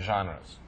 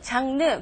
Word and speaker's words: genre: especially prefer any certain genres. 자, 우리가 보통 발음하는 단어 장르, 장르. 그런데 로버트의 발음을 들어보니까 genre 이런 식으로 발음을 하고 있죠.